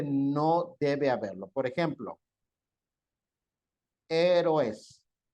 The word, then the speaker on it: héroes: ¿Cómo se lee esto, jóvenes? Con sílaba. Héroes. ¿Así está bien? ¿O está mal? ¿Está bien? Negativo. No me diga eso, voy a reprobar. Negativo. Vean qué letras son. Siempre tienen que fijarse en las vocales.